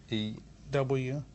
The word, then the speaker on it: Newt: N-E-W-T. T. And then Gingrich. For real, how does it spell that?